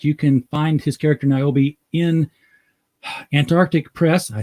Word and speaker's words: Niobe: It's called Niobe, and in fact, you can find his character Niobe in Antarctic Press.